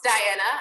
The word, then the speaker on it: Diana: met me before that there is a silent eye in my name so my name is not misspelled uh it is it is pronounced diana i believe that my mom